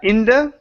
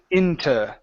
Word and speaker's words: into: Okay, so into is going to change to, you can either say inda, okay, or into. Okay, either form is okay.